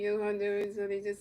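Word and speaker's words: Jhoan Duran: You just don't say the H in there. But you know it's spelled like J H O A. But you say they say they say Yondur.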